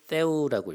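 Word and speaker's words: θεοῦ: 헬라어로 하나님의 의라는 단어는 디카이오시네 투 테우라고 있습니다. 테우라는 것이 번데기 발음이에요.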